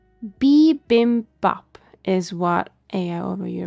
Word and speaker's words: bibimbap: How to pronounce bibimbap is what AI over here apparently tells me. B as in like beebs.